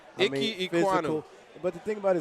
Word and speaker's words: Ekwonu: How you pronounce his doggone name? Ekwonu. Ekwonu.